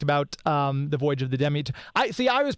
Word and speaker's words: Demeter: because here's the thing: this is based on the name comes from Greek mythology, and so there's all kinds of variations of the English pronunciation, the Greek pronunciation, the Americanized English pronunciation. There's all different versions. So we just wanted to give a consistency so everybody, and it sounds good on the ear. It's Demeter.